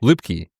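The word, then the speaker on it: Luepke: Is it Lepkkey? Loopkey. Loopkey.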